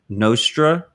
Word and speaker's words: Nostr: a distributed twitter i think you're calling it nostra yeah did i pronounce it right yeah i'm not sure i